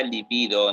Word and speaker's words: libido: La palabra libido no lleva tilde porque es paroxítona.